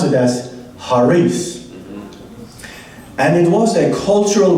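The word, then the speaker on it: χάρις: Or in Greek, it's called, I'll spell it, charis, and we can pronounce it as charis.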